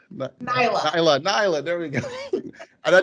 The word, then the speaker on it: Nyla: be uh knight i just lost how to pronounce it niela nyla there we go and i just practice it